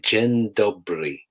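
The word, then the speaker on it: dzień dobry: can imagine jen dobry j e n space d-o-b-r-y gen dobbery it's not spelt like that at all but it would allow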